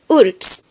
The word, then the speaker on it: urbs: But in Latin, if B is placed before the letter S or letter T, it'll be pronounced like the English P or pa. As in this word, meaning city, it'll be pronounced urbs.